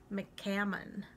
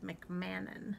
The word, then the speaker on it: McCammon: the author and i said her name wrong last time it's lori mccammon i sort of said mcmannon so mccammon it's easy to see